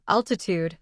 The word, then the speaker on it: altitude: For example, altitude has stress on the first syllable.